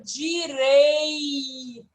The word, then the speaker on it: direito: Aqui nós temos a palavra direito. Direito. Se não pronunciasse o I, ficaria como, Arthur? Direto. Completamente diferente significado, não é?